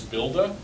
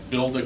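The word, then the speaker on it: Buildah: Builda comes from, again, Dan Walsh's team is the one that works on that. Dan is a Bostonian, and so he pronounces builder as Builda.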